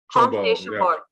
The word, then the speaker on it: Comte de Chambord: Comte de Chambord. Yeah. Okay. Yeah. So you don't really pronounce the M. So it's Comte de Chambord. Well, it sounds like you're saying C-O-N-T. Almost, yeah.